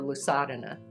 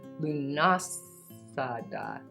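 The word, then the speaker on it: Lughnasadh: I'm saying it wrong. Let me see. How do we say it? I don't celebrate these really. I mean, I read about them and I really enjoy learning about them and celebrating part of their story. Lunasa. Okay. Lunasa. So I butchered it earlier.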